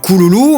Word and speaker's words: Kururu: Enfin, Kururu se prononce Kululu, mais s'écrit de la même façon.